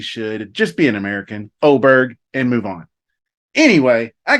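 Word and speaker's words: Åberg: And I'm watching my boy Oberg. And let's just settle it right now. It's Oberg if you're American.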